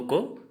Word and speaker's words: ক: असमिया का उच्चारण हिंदी में लिखकर बताऊंगा। तो दोस्तों, हिंदी, असमिया और हिंदी में उच्चारण असमिया वाला। जैसे क, इसको हम क कहेंगे, असमिया में क्या कहेंगे? को।